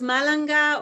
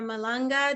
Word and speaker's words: Malanga: It's pronounced Malanga or Malanga, depending on the country you're in.